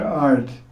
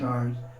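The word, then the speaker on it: artha: Number 4, it says mantra art. Remember, art is spelled A-R-T-H-A. some people spell ARTA is wrong.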